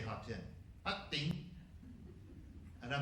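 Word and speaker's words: Hà Tĩnh: Ha Tinh, which by the way I'm horrifically mispronouncing. Ha Tinh. That's how you say Ha Tinh.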